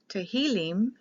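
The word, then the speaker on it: תהילים: up differently the Hebrew tahilim is for praises the I is pronounced like an e the Psalms is the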